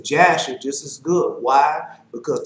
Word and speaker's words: Jasher: that I know that there's no J in the Hebrew alphabet back then. Now, they might have a J now, but back then it did. And so that's why I pronounce it Jasher.